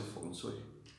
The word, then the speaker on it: Feng Shui: Realmente se pronuncia Feng Shui.